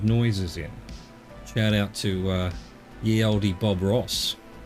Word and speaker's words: ye olde: Shout out to ye olde Bob Ross. Ye olde Bob Ross. You know, we say ye olde, but actually the Y is TH.